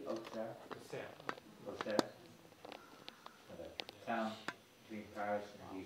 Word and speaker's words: Auxerre: Auxerre.